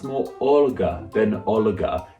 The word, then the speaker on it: Olga: the latin alphabet but it means the l before it should be pronounced softly that means that in russian this name should be pronounced more olga than oligarch it's a